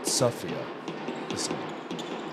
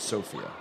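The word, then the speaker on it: Sofia: We'll put it Sophia, not Sophia.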